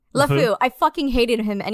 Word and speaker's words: LeFou: But I really did not like Lafrau. How do you say his fucking name? LeFou.